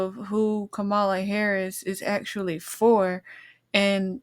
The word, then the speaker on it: Kamala: But Michaelah, I think she does a great job, explaining and getting you to understand that Kamala, that's how they say it's supposed to be said, but whatever.